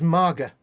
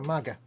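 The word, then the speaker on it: mage: So, Anders explains, belly in Swedish is maga. No, right. G is pronounced like G in bag, so maga. Yeah.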